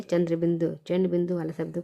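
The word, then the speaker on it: चाँद: तो कैसे उसका उच्चारण होता है, पाँच, चांद, मतलब मुंह से भी आवाज़ निकल रही है और नाक से भी आवाज़ निकल रही है, आँख, पाँच, चांद और आँख।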